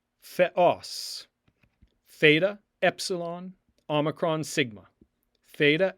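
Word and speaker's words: θεός: Theos. Theos.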